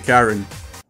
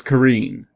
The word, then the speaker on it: Karin: where you're coming from in regards to Karen what do you mean it's pronounced as Karine now what do you